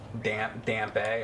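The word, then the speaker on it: Dampé: Well, if the E is silent, then that would be right, wouldn't it? That's all I want you to do. Thought you had to get around his backside. You pronounce it like a moist cunt. It's pronounced dump.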